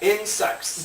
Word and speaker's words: insects: Insects. Bugs. Insects. It's spelled with a C. Insects. Like second.